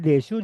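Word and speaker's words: です: Desu dibaca des ya.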